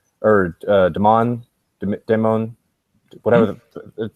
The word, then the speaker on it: Des Moines: but I actually consider moving out to to Damone or Daman Demone whatever the it's about like an hour hour south of a hour north of the world is pronounced Des Moines okay I was gonna say cuz an hour